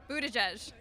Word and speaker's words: Buttigieg: Oh, how do you pronounce Mayor Pete's last name? Buttigieg.